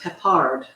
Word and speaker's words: Peppard: He says it's pronounced Peppard.